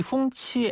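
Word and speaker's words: 红旗: 전용차를 계속 이용하고 있고요.이 홍치 N701의 홍치는요. 중국 공산당의 상징이 붉은기 홍기잖아요.이 이 홍기를 중국어 발음으로 읽으면은 홍치가 되고 이게 1958년에 처음 출시된 차입니다.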